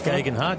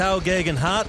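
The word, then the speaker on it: Geoghegan Hart: Hart oh we're indicating it's gagen Hart yeah exp another man he's a climber and who did a great job yesterday fantastic job fell off got back on finished the race I butchered his name yesterday but T gagen Hart there you go and doing a great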